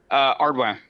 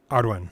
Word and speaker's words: Ardwin: Ardwin. Ardwin. Okay. Yeah, close enough. It's Cajun French.